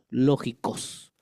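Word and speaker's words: λογικός: viene de palabra griega lógico con k al fin lógico con C de casa es el español no lógicos pero con k de kilo y acento en la o lógicos es el culto racional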